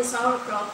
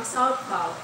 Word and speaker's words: sauerkraut: natin kung pronounce natin sauerkraut, pero kung sa kanila silent R, parang sauerkraut.